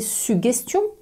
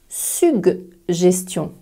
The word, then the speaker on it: suggestion: Comment vas tu les prononcer ? “suguérer” et “suguestion” ? “sugérer” et “sugestion” ? En fait, ni l'un ni l'autre. On va prononcer “sug” “gérer” et une “sug” “gestion”. La langue française est pleine de surprises phonétiques. Le premier -g est dur, le deuxième est doux.